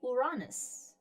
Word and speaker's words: Uranus: Yeah, it's the one planet that is still Greek, and the Greek pronunciation would be Uranus.